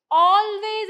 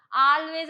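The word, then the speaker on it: always: എന്ന് പറയുമ്പോൾ നമ്മൾ ഇംഗ്ലീഷിൽ ഓൾവേയ്സ് എന്നാണ് പറയാ ഓൾവേയ്സ് ഇതിന്റെ ഉച്ചാരണം ഒന്ന് ശ്രദ്ധിക്കണം ട്ടോ ഇതിന്റെ പ്രൊനൻസിയേഷൻ കാരണം പലരും ആൾവേസ് എന്ന് പറയാറുണ്ട് പക്ഷേ അത് തെറ്റാണ് എ ആണെങ്കിൽ പോലും നമ്മൾ ഓൾവേയ്സ് എന്നാണ് പറയാ ഓക്കേ ഇനി പലപ്പോഴും ഇതഎങ്ങനെ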